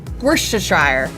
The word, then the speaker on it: Worcestershire: How would you pronounce Woopa-Poopa-Shire? Worcestershire.